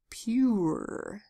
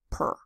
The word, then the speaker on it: pure: P says you ER pure Blends together it says pure not per fewer if you want to say per you would write PU RR the cat likes to